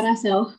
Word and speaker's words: Rachel: Kalau dipanggil sih biasanya Rasel, Bu. Rachel, berarti Rachel ya? Pakai S. Ya, Rasel. Oke, bukan pakai KH ya? Oh, bukan. Kalau KH kayak Spanyol gitu deh.